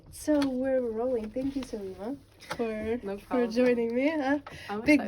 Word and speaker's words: Selima: your name yeah of course okay so I'm salima so could you say could you spell that for me so I don't make any